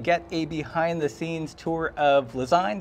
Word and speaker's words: Lezyne: a behind-the-scenes tour of lasagne that i pronounce that right design correct like design cool and we're here